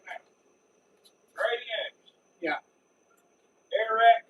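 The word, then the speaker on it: Arat: Air-rat cases. Spell that for me. Spelled like A-rat. A-rat. A-R-A-T. A-R-A-T. Cases.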